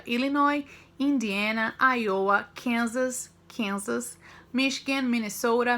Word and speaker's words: Illinois: Tem o S ali, mas a gente não pronuncia. Illinois, Indiana, Iowa, Kansas, Michigan, Minnesota, Missouri, Nebraska, Ohio, South Dakota e Wisconsin.